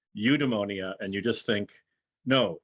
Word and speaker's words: eudaimonia: i put the the phonetic spelling here it's pronounced eudemonia and you just think no eudemonia no unemonia